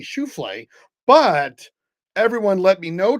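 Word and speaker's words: Schauffele: Fitzpatrick and Xander schuf I'm just gonna keep mispronouncing his name because I know it irritates tons of golfers when I mispronounce his name Z Xander sh sh shalof so I'm just gonna every time I say his name I'm GNA mispronounce it on purpose because it should be shule but everyone let me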